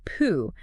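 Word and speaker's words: 樸: Hoff introduces this really fundamental Taoist principle called Pooh. It's pronounced just like Pooh, interestingly enough, minus the long do sound.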